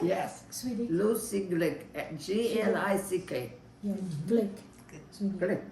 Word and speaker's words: Glick: Mel's Life in England signing off, and it's been lovely talking to Lucy Jacobs, Swedish, Swedish Glick. Did I Lucy- say it right? Yes. Swedish, Lucy Glick, G-L-I-C-K.